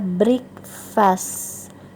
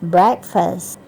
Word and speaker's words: breakfast: Kata sarapan seringkali dibaca breakfast, gitu ya. Padahal yang benar breakfast.